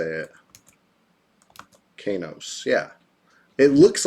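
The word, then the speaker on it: Qeynos: So I always said Kanos, but I'm hearing from the same people who said Lucklin is officially correct also say it's Kinos.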